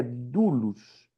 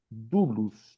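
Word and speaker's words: δοῦλος: idioma grego é dulos se escreve doulos né d o u l o s mas se pronuncia Du dulus não é porque o encontro de o u como seria na nossa língua portuguesa no grego soa como u certo então a palavra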